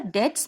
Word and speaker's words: debts: depths depths me we call it depths be is silent here debts means a sum of money or audio to